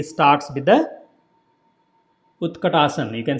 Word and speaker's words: Utkatasana: So Sun Salutation B starts with the Utkatasana. You can say chair pose. So this is the chair pose, pronounced as a Utta. Again, tongue between the teeth. So not ut, not ta. Utkatasana.